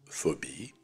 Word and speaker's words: phobie: Règle de lecture et de prononciation de la combinaison de lettres PH. Le son F. Буквосочетание PH, звук F. Phobie.